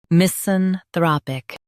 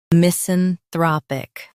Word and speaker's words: misanthropic: misanthropic Now, read the syllables of British pronunciation shown on the screen naturally. mis an throp ic misanthropic mis an throp ic misanthropic Emphasize thra in US, throp in UK.